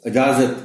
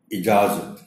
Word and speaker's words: اجازت: گئی ہے۔ دیانت، اجازت، یہاں بھی الف کے نیچے کی زیر کا خاص خیال رکھا جانا چاہیے۔ کچھ بچے، کچھ بڑے اس کو اجازت بھی پڑھ جاتے ہیں. یہ لفظ ہے اجازت.